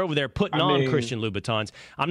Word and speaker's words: Louboutin: It does, makes it any better for you that you're wearing men's Christian Louboutins.